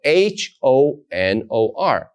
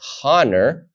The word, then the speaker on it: honor: but in English specifically you can think of the word honor right it's spelled h-o-n-o-r but you don't say the H you don't say honor you say honor the H remains silent and you pronounce the